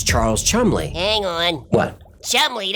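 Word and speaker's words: Cholmondeley: Chumley, that's not what it says on the screen. Yeah, I know, that's how he pronounced his name.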